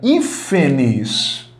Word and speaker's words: hífenes: Mas quando eu faço a divisão silábica da palavra hífenes, olha só. Última sílaba, penúltima, antepenúltima sílaba é a mais forte, hífenes. E claro, se a antepenúltima é a mais forte, essa palavra é proparoxítona.